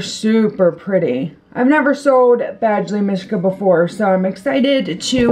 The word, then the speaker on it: Badgley Mischka: And then the next thing, they're actually in a Coach box, but they are Badgley Mischka. Is that how you pronounce it? Yeah, Badgley Mischka, and they're really cute.